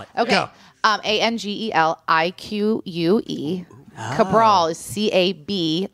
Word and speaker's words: Cabral: Cabral is CAB like boy, not V like Victor, not No. Cabral with a B. RAL. Cabral.